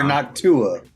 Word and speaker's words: Noctua: Noctua or Noctua? I mean, I hear it being pronounced both ways, so I guess it depends on where in the world you are.